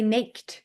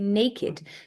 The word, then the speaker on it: naked: was like a universe we also say naked we don't say naked we say naked when we are talking